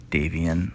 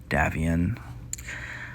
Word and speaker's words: Davion: little bit um house davian or as one of our watchers or subscribers has mentioned is pronounced more like davion now the compellents have